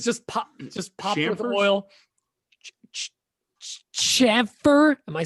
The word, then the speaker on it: chamfer: But it's just popped with Chamfers? oil. Chamfer? Am I saying it right? Chamfer?